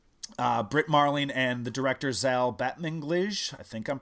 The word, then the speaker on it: Zal Batmanglij: The East is the kind of follow-up to Britt Marling and the director Zal Batmanglij. I think I'm pronouncing that correctly.